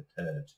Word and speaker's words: third: এভাবে থার্ড, এখানে আমাদের একটা সমস্যা হয়, থার্ড না, টিএইচ আই আর ডি, এখানে কিন্তু আর এর উচ্চারণটা প্রায় উচ্চ থাকবে, এবং থ্রি আর ডি মনে রাখতে হবে থার্ড।